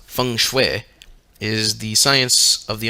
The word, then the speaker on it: feng shui: it the chinese system of geomancy feng shui pronounced feng shui is the science of the understanding the dragon